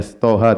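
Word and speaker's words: طه: ya tidak dibaca ya Thaha tidak dibaca toh tetapi dibacanya pada huruf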